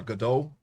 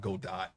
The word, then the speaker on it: Godot: I got Godot too in case I decide, or Godot, not Godot. Godot. You have to think of Gal Gadot. That's how you pronounce it.